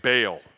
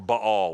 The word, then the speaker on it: Baal: of a false god named Baal, or Baal, which is the correct way to say it.